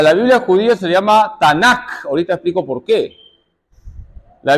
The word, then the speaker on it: Tanakh: Entonces, nos quedamos con la T, la N y la K, y esto se pronuncia la Tanakh.